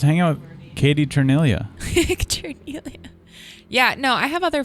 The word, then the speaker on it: Cerniglia: Cerniglia. That's not how you say your last name. It's not? I learned recently. We've been saying her name wrong. I feel like Cerniglia? as like a white person, we can't. Chernelia? As like a white person, we shouldn't pronounce it the other way.